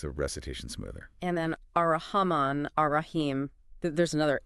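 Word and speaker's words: الرحمن: Ah, so it's not Al-Rahman, but Ar-Rahman. The L disappears into the R.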